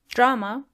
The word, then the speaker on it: Drama: Drama is simply das Drama. You just have to make the word drama more German. Das Drama. So roll your R's.